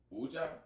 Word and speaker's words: Wedja: Aria Jones and the Guardians, Wedja. And the first name, the first name. Jagger Jones and the Mummies, Ankh. There we go. Wedja. That's how you pronounce yes, it? Wedja.